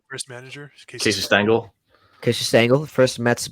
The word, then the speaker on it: Stengel: I feel like if you had, I was looking back at it because Casey Stengler, who was the first, right? I said it right. First manager, Casey Stengel.